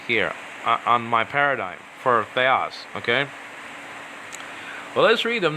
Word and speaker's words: theos: So sometimes theos would be, the emphasis will be on the first syllable, the, okay, and it'll go down after that, theos.